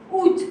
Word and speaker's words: août: August is août. You remember there is an A, but we don't pronounce it.